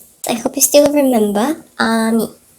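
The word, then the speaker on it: 아미: I hope you still remember Ami. This at the front. It's actually silent. It's Ami.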